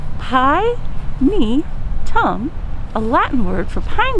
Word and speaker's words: Pinetum: is a pinedum and how do you say it pi me tom a latin word for